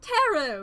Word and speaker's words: tarot: stolen a deck of teret teret tarot is how it's pronounced but I call them